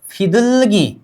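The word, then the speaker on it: 비둘기: अब इसका नाम 'फिदुलगी' है। मूल। फिदुलगी' इसका अर्थ है 'कबूतर'। 'कबू', 'कबूतारा' क्या है? ?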